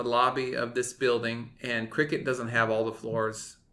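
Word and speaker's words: Cricut: things first you started your new job at crickets even though it's spelled CRI c UT that would pronounce it cry cut but anyway cricket how is it how are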